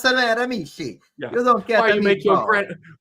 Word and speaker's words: Miramichi: Melanie Abulio says for $2.79, too much emphasis on second Miramichi. We're still at this. Miramichi. Oh, why you mispronounce Miramichi?